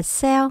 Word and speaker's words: self: Chữ self, mình có chữ F các bạn nhé. Thay vì đọc là self, mình thêm chữ F vô. Self, self, self.